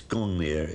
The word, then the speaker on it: Gungnir: We think that perhaps it might have been pronounced in those days Ungungnir, maybe. It's Gungnir in historic times.